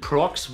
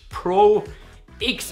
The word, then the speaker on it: Prox: alteingesessenen Jungler Diamond Prox wird eigentlich Diamond Pro X ausgesprochen. Also das wollte der arme Junge ursprünglich. Aber die Leute überschatten das alles, indem sie einfach alles zusammenmanschen und das in einem Wort aussprechen.